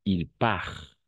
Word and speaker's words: part: Le T à la fin est muet. Il part.